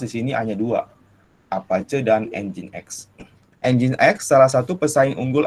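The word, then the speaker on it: nginx: kedua adalah webserver engine.exe ini dibacanya engine.exe ya dulu saya diwaktu pertama kali tahu ini namanya apa gingsul bukan inbc engine.exe nah ini sebenarnya web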